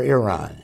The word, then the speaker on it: Iran: to his wonderful beautiful country of Iran Iran or Iran Iran Iran is okay that's right I just